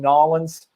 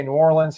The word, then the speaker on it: New Orleans: carr high school in nollins i got to stop saying that i used to work with a guy who was from there so whenever i would say new orleans he would uh correct my pronunciation but again we were